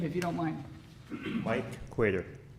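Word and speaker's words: Qader: need your name if you don't mind Mike quater how do you spell it out q-a-d-e-r okay thank you okay so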